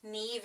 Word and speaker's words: Neve: He said it's a common mispronunciation, just like Neve and Nev Campbell. Yeah. Yeah. Nev Campbell and Neve. Somebody said Neve Campbell and she corrected him.